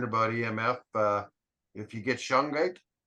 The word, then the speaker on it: shungite: As soon as I put the shungite in the back of the phone, it goes to normal. So it doesn't. What is that stone you call it? Shungite.